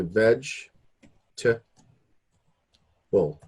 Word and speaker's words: vegetable: we don't do that so we essentially if I do it phonetically again we say comfortable and we don't say vegetable we say veg too well so these syllables the O R or the O and the E and the a they're cut right out we don't you know